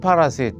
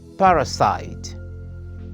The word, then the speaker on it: parasite: talk about this word it's not parasite as many people used to say in it it's parasite parasite get that right and your English